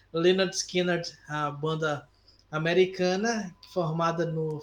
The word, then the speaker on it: Lynyrd Skynyrd: musical no Salton rock um álbum que já explica no título como você deve pronunciar o nome da banda porque o álbum se chama pronounced Leonard skiner né Leonard skiner a banda americana formada